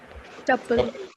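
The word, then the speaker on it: tuple: अब आगे बढ़ते हैं क्योंकि अब टपल की बारी है। किसकी बारी है? टपल। ना टूपल मत बोल देना इसको गलती से भी।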